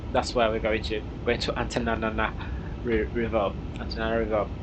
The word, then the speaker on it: Antananarivo: capital of Madagascar is Antananarivo. Jesus Christ, Jesus Christ, Antananarivo, Antananarivo. So that's where we're going to Antananarivo. It's not two separate words; it's one word.